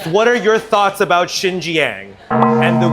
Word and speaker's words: Xinjiang: the weaker people uhhuh well first of all it's Shang and also it's the Wu I think I'm pronouncing that right the right they say weaker because they can't pronounce those letters okay anyways we're going